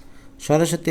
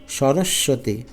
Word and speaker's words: সরস্বতী: যেটা মনে রাখতে পারো সরস্বতী বানান করতে গিয়ে দেখো আমরা প্রথম স এর উপর কিন্তু চাপ প্রয়োগ করি না পরের স এর উপর চাপ প্রয়োগ করি সরস্বতী তো বানানটা এ কারণে